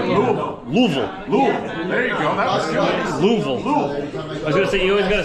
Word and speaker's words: Louisville: keep getting made fun of I think the locals say Louisville Louisville Louisville there you go Louisville I was going